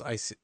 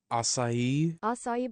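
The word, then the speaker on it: açaí: And there was Icai acai bowls. Acai bowls. I almost said it wrong.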